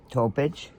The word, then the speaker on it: Topic: my little baby, Bojana Topic. T-O-P-I-C, the H is silent.